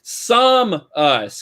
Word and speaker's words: Samus: little bit sam um in most media psalmist's name is pronounced as some us however in brawl however in brawl the announcer says samus the change in pronunciation is consistent with the way samus is pronounced in metroid prime three corruption so there is there